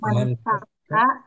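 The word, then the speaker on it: ما انفك: adapun adapun eh mazala eh ma anfaka ma bariha manfaka gitu bacanya manfaka eh manfaka wama bariha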